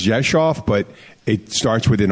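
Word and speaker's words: Rzeszów: kal but people pronounce it's in Polish is pronounced Josh off the hometown Abbey is from I if there's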